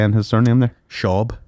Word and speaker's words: Schaub: Schaub. Schaub, like Schwab? Like Schwab without the W.